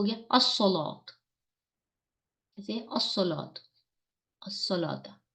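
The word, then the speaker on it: الصلاة: हमारे पास हो गया अस्सलात। कैसे? अस्सलात, अस्सलाता। वो अकीमुस्सलाता, मीम को डायरेक्ट सौ से मिलाया, लाम को साइलेंट कर दिया।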